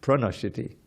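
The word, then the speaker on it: प्रणश्यति: Not just nashyati, pranashyati. You see, these pras are very important. That's why I corrected the pronunciation.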